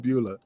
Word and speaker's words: Beulah: What about Balula McGillicuddy, Tommy Dreamer's Balua? Balua, Beulah. I could never pronounce it correctly, but Beulah. Dreamer, what say it? Beulah McGillicuddy. Sorry. Beulah. Balua. Beulah. It's not beluga caviar.